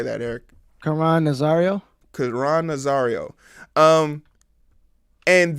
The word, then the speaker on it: Nazario: how do you say that eric come on nazario cuz ron nozzario um and this story right